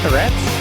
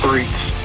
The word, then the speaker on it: Threats: Is it actually Threats? No, it's Threats. Threats, okay. That's a true English pronunciation.